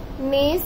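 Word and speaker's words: neighs: नेज का है एन ई आई जी एच S. Okay, नेज, यहाँ पे जी और एच हमारा आई जी एच साइलेंट है, तो ये हो गया नेज।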